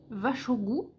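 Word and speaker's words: vær så god: Donc là, c'est vachogu, donc qui s'écrit var, plus loin so, plus loin gu, c'est vachogu. Donc en phonétique, c'est vraiment vache, au, gu, vachogu.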